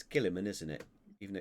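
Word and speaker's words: Guilliman: wrong one uh it's kiliman isn't it even though it's got a unit I don't pronounced it yeah yeah they should just take the U out of it annoys me anyway uh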